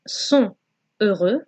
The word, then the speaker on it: sont heureux: Okay, so in that case, the T from sont has to be pronounced. So instead of saying sont heureux, we're going to say sont heureux, heureux.